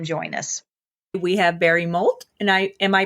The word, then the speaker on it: Moult: We have Barry Moult, and I Am I pronouncing your last name right?